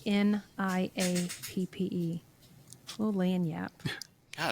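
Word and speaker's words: lagniappe: little extra yeah yeah lanap what do you call it lanap l the g is silent l a g ni I a PP little Lan Yap God it's like a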